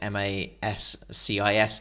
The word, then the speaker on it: J Mascis: know some of them, like J Mascis, is actually just the letter J, and then Mascis is Mascis.